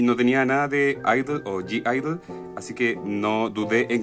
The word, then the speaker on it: (G)I-DLE: álbum de Idol o g Idol como ustedes quieran decirlo no importa si lo pronuncian mal según lo que yo entendía se pronuncia Idol sin la g que es como una una letra muda y bueno en fin